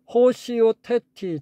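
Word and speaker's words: ὁσιότητι: 강기식 있네요 예 호시 호시오 테티 제가 아까 오시라고 읽었나요 호라고 읽어야 되네요 예 요거는 경건 신앙의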